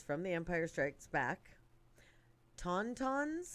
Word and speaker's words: tauntauns: be conducted by, and I'm hoping I'm not pronouncing this incorrectly, it's from The Empire Strikes Back, Tauntauns? Tauntauns.